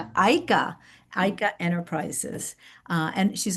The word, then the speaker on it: Aika: who is founder and CEO of is it pronounced IKA Aika Aika Aika Enterprises uh and she's also an author.